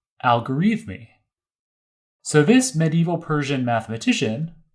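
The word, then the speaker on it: al-Khwarizmi: Uzbekistan today called hiva so in English we pronounce this algorithmi so this medieval Persian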